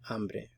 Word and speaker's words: hambre: Él tiene hambre. Remember, the H is silent.